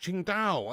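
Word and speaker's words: Tsingtao: Oh, it's pronounced Ching Dao.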